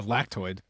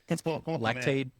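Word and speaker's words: Lactaid: Good thing you took the lactoid. Lactade. Is it lactade or lactoid? Lactade. Okay, just make sure you pronounce that D.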